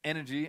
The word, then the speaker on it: NRG: or energy NRG win it's pronounced enery apparently but n is the spelling of the team don't worry too much